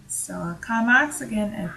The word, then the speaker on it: Karl Marx: Classical definitions of social class have mainly been provided by Karl Marx and Max Weber. So I'm using the German pronunciation since both are German. So Karl Marx again and Max Weber.